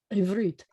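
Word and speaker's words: עברית: And again, multisyllabic word, but the accent's at the end of the word, ivrit.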